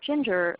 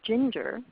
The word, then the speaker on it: Ginger: So if her name were Ginger, you might say Kathy or Bella with the stress on the first syllable.